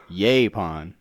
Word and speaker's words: yaupon: Yaupon. And we still don't know how to spell that, but Yaupon. Look it up. So I say yaupon, you say something different. Yaupon. Yaupon. Yaupon. Yapon.